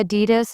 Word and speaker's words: Adidas: I heard you say Adidas in a way that sounded unusual. I thought it was pronounced with stress on the first syllable, but it's actually on the second.